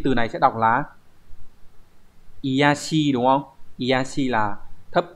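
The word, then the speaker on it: 卑しい: Thì cái từ này sẽ đọc là iyashi đúng không?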